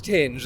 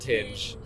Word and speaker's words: Tinge: And did you find out how to pronounce is it Tinge or is it Ting? It's Tinge. A band called Tinge.